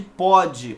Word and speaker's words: pode: Para diferenciar de pode, olha a pronúncia como é aberta.